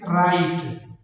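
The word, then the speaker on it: write: बाद आर हो तो डब्लू हमेशा खामोश होगा जैसे राइट राइट अब यहां पर डब्लू के बाद आर है। डब्लू के बाद आर है तो डब्लू यहां पर खामोश है। इसको नहीं पढ़ेंगे। इसको राइट नहीं पड़ेंगे। बल्कि इसको पढ़ेंगे राइट।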